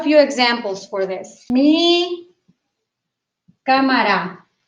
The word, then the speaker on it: cámara: Mi cámara. Cámara has an accent on the letter A.